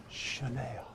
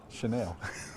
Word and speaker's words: Chanel: And it's actually pronounced Chanel. Chanel. I mean, I know Elizabeth's trying to help you, but let's get it right, Ben. Chanel. Chanel. It's sort of like Jaguar.